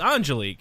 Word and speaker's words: Angelique: I told Derek because she told me when I called earlier that it's not it's Angelique, and so I told Derek that that's how to pronounce it.